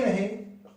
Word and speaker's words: रे: अब उच्चारण में पहले री ही बोला जाता था, कर्नाटक वाले संगीत में आज भी री बोला जाता है, लेकिन धीरे धीरे धीरे ये अपभ्रंश होकर रे बन गया।